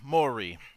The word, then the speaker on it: Mowry: the one and only sr mori how you doing today man i'm great and i'm really impressed that you actually pronounced my name correctly so that's awesome i've